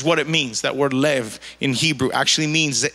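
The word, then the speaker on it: לב: actually the word lay it's spelled l a b but it's pronounced and what's so unique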